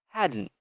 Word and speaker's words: hadn't: So this combination of sound, D and N, is a little tricky. So we don't say hadn't. We just combine them together.